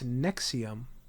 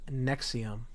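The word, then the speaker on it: NXIVM: You know, you know, I I learned what the pronunciation of that cult is. It's Nexium.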